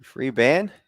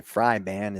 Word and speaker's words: Fryban: The umpire pointed to Freeban, or I should say Fryban is his name. We got confirmation of the pronunciation.